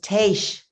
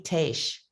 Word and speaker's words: Tash: and haitian so i'm i might say my name is tash now you've heard of people who live in haiti haitian it's tash tash like haitian kind of long-winded but